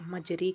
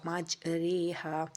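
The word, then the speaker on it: مجراها: حروف مقطعات کہتے ہیں۔ مجرے کا تلفظ مجرے، قطرے کی رے کی طرح ہوگا، مجریہا۔ شد والا حرف ہمیشہ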